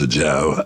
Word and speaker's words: Ajao: Well, I'm Ajao, and it's pronounced Ajao, A-J-A-O.